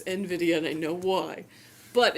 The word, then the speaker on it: Nvidia: say Nvidia because because if I'm pronouncing the word I get that it's envidia and I know why